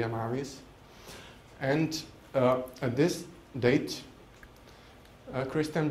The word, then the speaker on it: Amavis: It's spelled Amavisd-new, D for demon. But in free talk, I usually say Amavis.